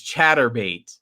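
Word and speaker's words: Chaturbate: It's spelled like masturbate, but it's chatterbait.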